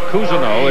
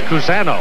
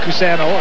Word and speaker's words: Cousineau: I've been calling Dave Cousineau. It's Cousano. I'll get it right. That's the way it is in the media guy. It's pronounced Cousano.